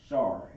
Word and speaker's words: Shar: On this Ra, you gotta drop out the A, so drop make it pronounced Shar, S-H-A-R.